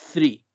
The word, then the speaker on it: three: Y que si lo complementamos con la R y la E, quedaría entonces como three. Three. Esa sería la forma correcta de pronunciar el número 3 y los números que